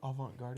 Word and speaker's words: avant-garde: to do whatever vision he's got for some avant-garde hair, makeup, or just an overall art look in photography. So that's fun. Can I ask what avant-garde is?